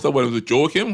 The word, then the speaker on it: Joaquin: Was it Joaquin? How do you pronounce that one? Joaquin.